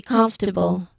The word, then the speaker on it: comfortable: The one s this one surprised many learners because even though the word has four syllables, we say comfortable. The stress is on the first or second syllable. Not second but the first uh the suffix but